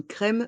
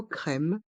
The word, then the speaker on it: crème: crème un café crème dans le mot crème le M reste en suspens crème crème un café